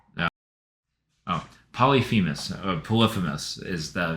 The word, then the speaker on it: Polyphemus: Oh, Polyphemus, Polyphemus is the name of the Cyclops.